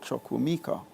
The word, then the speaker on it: Chukwuemeka: so the i say it's pronounced choco that's more the african pronunciation as opposed to the english pronunciation so growing up in prep school i used to be called choco mika but that's more the english phonetical pronunciation and what were some